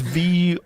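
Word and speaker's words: Воронеж: It's Voronezh.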